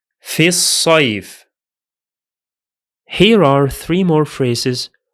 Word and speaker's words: في الصيف: The hamza of al is silent because it's in connected speech, and the lam is also silent because it is a solar lam.